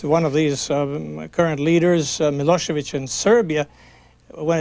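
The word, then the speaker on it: Milošević: of these current leaders milosevich in Serbia when it's written when you see it in the newspapers it's it ends with a c but actually it is pronounced as as if it were CH do you find people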